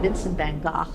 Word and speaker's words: Vincent van Gogh: On the other hand, if you take somebody like the famous artist Vincent van Gogh, which is actually Vincent van Gogh is the proper pronunciation.